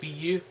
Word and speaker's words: Wii U: It's pronounced Wii U.